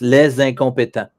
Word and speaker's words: les incompétents: more than one, and when you have les with a vowel afterward, you have to pronounce it as a single word. So it's les incompétents. But if it was, for example, not a vowel but a consonant, you pronounce it like les compétents as two different words.